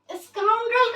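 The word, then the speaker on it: scoundrel: देखो स्काउंड्रल का मीनिंग क्या होता है? क्या प्रोनाउंस करेंगे इसको हम लोग? स्काउंड्रल।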